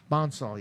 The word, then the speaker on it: Bonsall: When I was actually, we actually going to have, and I don't want to say his name wrong, Brian Bonzal. Brian who? Brian Bonsall, yep.